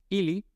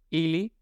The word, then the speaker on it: ili: el acento por ejemplo en el caso del pronombre illi y Lisa con el acento en la primera y pero cuando se